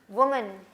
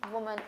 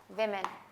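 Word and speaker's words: women: वुमन, मैन आदमी, वुमन औरत. अगर आप इसको प्लूरल करते हैं तो इसमें भी क्या चेंज होगा? सिर्फ ये विमेन. लेकिन आप इसको प्रोनाउंस वुमेन नहीं करेंगे, विमेन. विमेन, विमेन.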